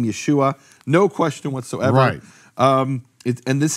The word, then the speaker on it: Yeshua: question from any serious scholarship about how to pronounce that name, Yeshua, no question whatsoever.